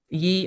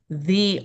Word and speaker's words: ye: um, we would pronounce it ye old this, ye old that. But the letter is actually, the letter is actually a version of the thorn, and it would be pronounced like th. It should be pronounced the old curiosity shop.